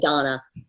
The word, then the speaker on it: Dana: Yeah, it's spelled Dana, but you say Donna.